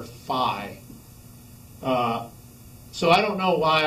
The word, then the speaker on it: phi: is the greek letter phi so i don't know why i've always heard it referred to as fee and i may just be wrong but i call it the fee coefficient and if we